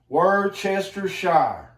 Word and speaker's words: Worcestershire: here in Liam pyramins Worcestershire shower sauce on there and that's how you pronounce it word Chester shy comes from Worchester Shire England okay get that a